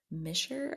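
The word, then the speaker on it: Mishler: other videos but also adrienne misher i think is how you say her last name um she has the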